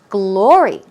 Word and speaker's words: glory: Glory. Stress goes on the first syllable.